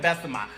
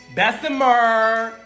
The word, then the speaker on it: Bessemer: came out two child i said best of mine bessemer i'm sorry i said it wrong see even i can't